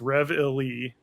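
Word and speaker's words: reveille: Also, the song is pronounced Rev Illy.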